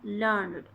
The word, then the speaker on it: learned: Learned. Learned means highly educated or well educated, usually written as learned and pronounced with two syllables learned.